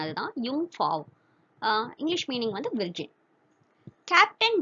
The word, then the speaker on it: Jungfrau: So German pronunciation அதுதான் Jungfrau.